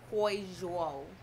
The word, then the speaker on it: Huizhou: We're in Huizhou. Okay, expert. It's the H. It sounds like a China. A Hui. And it is a resort